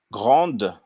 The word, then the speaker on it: grand: it's for male female but in french for masculine will say gran for feminine we will say grand you know so usually